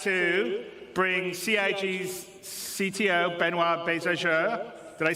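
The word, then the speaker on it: Benoit: waffling on I'd like to bring Ci's CTO benoir bezer did I say it right benoir yeah okay good I'm always bad with French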